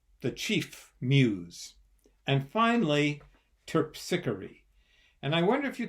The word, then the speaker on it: Terpsichore: you to spell it terpsichore let's spell it together T e r p s I see H Oh our e terpsichore four syllables okay well we're gonna